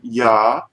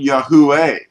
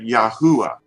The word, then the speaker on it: Yahuah: And they were pronouncing it Yah-U-ah. That's what they were saying. Not Yahweh, but Yah-U-ah.